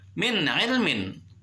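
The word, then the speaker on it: مِنْ عِلْمٍ: Kalau nun matinya min ilmin, nun mati ketemu sama ain harus dibaca jelas, itu idhar. Karena idhar jelas. Nun mati ketemu sama ain adalah salah satu huruf idhar, tidak boleh dibacanya min nggak boleh, harus jelas. Min ilmin, nunnya itu kelihatan terdengar. Min ilmin.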